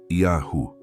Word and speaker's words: Yahu: Essas formas nunca existiram nos textos originais. São construções artificiais criadas para evitar que o povo pronunciasse o nome verdadeiro, Yahu.